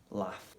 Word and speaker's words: laugh: Sometimes the GH letter combination is pronounced like a F sound. So for example, in the words craft, laugh, rough, tough, enough, cuff. H, in those kind of words, the GH letter combination is pronounced like an F.